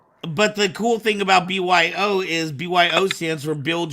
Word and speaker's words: BYO: Your saber company is called, do you pronounce it BYO? Is that what you call it? Yes, BYO.